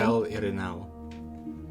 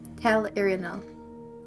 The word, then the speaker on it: Tel'Irinal: Taylor, tell me how you pronounce that name. Tell Irinal. Yes. Tel'Irinal.